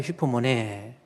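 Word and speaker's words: ὑπομονή: 여기 슈포, 이게 우 발음이 이 액센트가 거꾸로 되면 강기시라고 해서 발음이 H 발음이 나는 슈포라고 H 발음.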